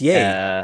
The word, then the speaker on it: Ye: It's Yay, I And believe he is is yay. pronounced Yay. Right. I don't know. Yeah.